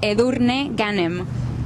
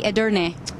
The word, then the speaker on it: Edurne Ganem: This is how you say it in Spanish. Edurne Ganem. I'm glad it's you. And then for you can say Edurne.